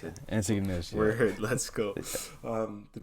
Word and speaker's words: Antigonish: So, in that last semester, when you were meeting the people, it's Antigonish? How do I pronounce it? Antigonish, yeah.